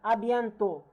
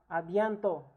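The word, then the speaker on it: à bientôt: the S already and the T if they are not followed by a vowel it is not pronounced is the case also for the D letter. Let's go again. Abento. Abento which means also as see you later.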